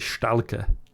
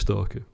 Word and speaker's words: Stalker: tell um and he he mispronounce every time he pronounced it stala and I remember at first going like stala what film's that you never read stala and then realizing eventually it was stalker like it took a